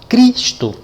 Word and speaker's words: Cristo: Aí eu vou colocar aqui Cristo. Cristo. Ó, não tem acento a palavra Cristo. Então, aquela que é lida com mais intensidade é a sílaba tônica. Ó, Cristo, cri.